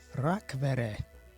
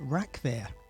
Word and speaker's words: Rakvere: Greetings from Rakvere. Apparently that's how you pronounce it. I've been calling it Rakvere.